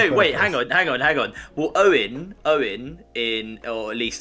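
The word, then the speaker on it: Eoin: Well, Owen in, or at least I think it's pronounced Owen in Irish, is often spelled E-O-I-N, right?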